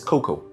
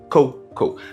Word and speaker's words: cocoa: So the stress is on the first, not the second syllable.